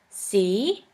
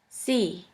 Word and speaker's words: sie: The next letter combination is IE, which is simply pronounced like E. For this letter combination, we have the example of the word see, which means you. I, Europa, sie.